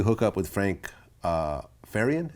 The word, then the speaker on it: Farian: up with Frank uh faran is that how you pronounce that's right Frank faran Frank farian so what's interesting about Frank